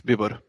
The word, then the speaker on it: Bibor: And we say hello to Bibor. We're pronouncing that properly, is that right? Yep, hello, it's spelled Bibor. It's a Hungarian name, but I'm living in Croatia, so it's Bibor.